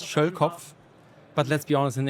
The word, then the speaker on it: Schölkopf: So the last name in German is pronounced Schölkopf.